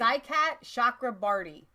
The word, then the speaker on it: Saikat Chakrabarti: Saikat Chakrabarti.